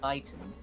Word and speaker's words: chitin: You get one for each of the, and apparently I've been saying it wrong. Apparently it's pronounced chitin.